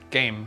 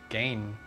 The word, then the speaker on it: Gahan: Gain. Gain. I thought it was game, like G-A-I-M. I'm wrong. Okay, Gain.